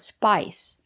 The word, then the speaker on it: spice: comes from the word spice we have the letter I and the silent E we pronounce the letter i as the long I like in hike and like spice it's countable so you